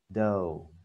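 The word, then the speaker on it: dough: Còn dưới này thì lại đọc là oh, do, ok, do giống như trên này, à, đấy,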